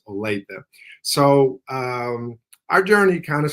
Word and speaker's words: Olathe: Everybody pronounces it the way that you do, but the correct pronunciation is Olathe.